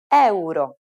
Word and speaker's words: euro: to these words pronunciation in Italian we pronounce it as it is written eoo the currency includes 5